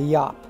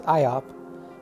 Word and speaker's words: Iop: This guy with the funny name is the Yop, or you could also pronounce it as Iop.